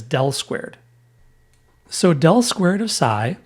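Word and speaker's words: ∇²: Again This is the Laplacian operator which we can abbreviate using an upside-down delta squared pronounced as del-squared.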